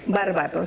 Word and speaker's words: Barbato: ¿Lo pronuncié bien? Sí. Barbato. Qué bonito el apellido. ¿Dónde es? ¿Origen, sabes? Italiano. Italiano, claro. Barbato. Había que pronunciarlo así.